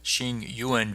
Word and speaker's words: Tsingyuan: Today we're here with Eric Rosen Bloom of Shing Yuan Ventures. Eric, thank you for joining us. Thanks for having me. And you pronounced it perfectly.